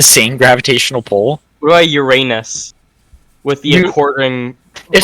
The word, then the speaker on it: Uranus: It's Uranus.